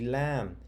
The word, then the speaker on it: lamb: So, oh look, two words that have the silent B. Comb, lamb. Let's read it together. Use a comb to brush the fuzzy lamb.